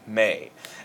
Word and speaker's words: me: Now, instead of going do, re, mi, I know that this looks like it would be pronounced me, but it's actually pronounced may.